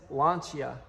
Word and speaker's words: Lancia: But back here, we actually have a Lancia Fluvia, which, believe it or not, the correct way to say that is Lancia.